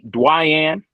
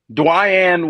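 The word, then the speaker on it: Dwyane: Dwayne. You mean Dwayne Wade? No, that is spelled Dwayne.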